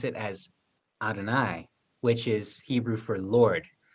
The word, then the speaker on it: Adonai: They pronounce it as Adonai, which is Hebrew for Lord.